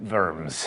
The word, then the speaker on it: Worms: the Imperial Diet of Worms, or in German, Worms.